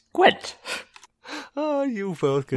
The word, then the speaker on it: Gwent: Gant? You play Gant? It's pronounced Gwent.